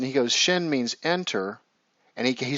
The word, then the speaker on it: shin: for the Hebrew Elvis it's actually pronounced Shin right same same pronunciation and if we take